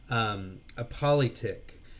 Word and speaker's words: polyptych: It's called a politic, and that's spelled POLYPTYCH.